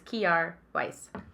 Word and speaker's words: Kjaer Weis: by any brand, but they actually told me the proper pronunciation, which I was like, I'm sorry that I so badly butchered your name. It's Kjaer Weis.